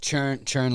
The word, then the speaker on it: Tschrin: will hear um your last name is churn like butter churn like butter butter okay